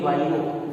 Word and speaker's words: vivo: और इन वाइवो, वाइवो मतलब वीवो mobile की बात है, वही स्पेलिंग है VIVO, इन वीवो भी कह सकते हैं आप।